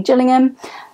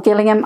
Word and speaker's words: Gillingham: The main character in this book is Anthony Gillingham, or Gillingham. I don't quite know how we're pronouncing that one, because you can pronounce that place name either way, depending on which place you're at in the UK.